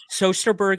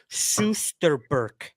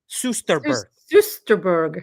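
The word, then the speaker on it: Soesterberg: Sosterberg is pronounced Susterberg. Susterberg.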